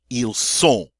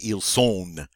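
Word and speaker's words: ils sont: to use a beautiful nasal sound oh oh EAL soul all right but i don't say eel soul we don't hear the end you know salt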